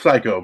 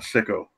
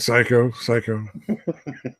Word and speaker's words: Psycho: Yeah, I was gonna say it's pronounced psycho, by the way. It's not sicko. Oh, is that? Did I get it wrong? Yeah, you said sicko, dude.